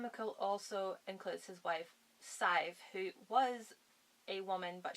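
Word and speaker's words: Sadhbh: And fun fact, Sive, if you don't know, if you're not Irish, is actually spelled S-A-D-H-B-H. I'll let that sink in for a second, and yes, it is pronounced Sive.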